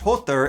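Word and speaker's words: Höðr: kill Baldur, and she answers his blind brother Hod, whose name is actually pronounced Hothur if you're not butchering it like the the American pig that I am.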